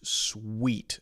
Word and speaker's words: suite: is the Sweet Room pronounced exactly the same as s-w-e-e-t okay my Swiss sweet